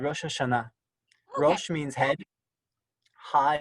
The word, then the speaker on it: Rosh Hashanah: Rosh Hashanah. Yeah, and you can say it faster, Rosh Hashanah.